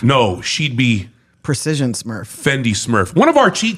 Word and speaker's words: Fendi: Yeah, because Fendi Givenchy. rhymes with Wendy.